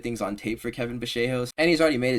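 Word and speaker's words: Vallejos: No, it's Bashos. So out of respect for him, I will pronounce his name properly. Kevin Bashos.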